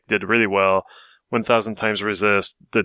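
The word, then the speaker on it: 1000xRESIST: uh so I played 1,000 times resist which uh yes that's a that's the title that's how you say it apparently chew with devop and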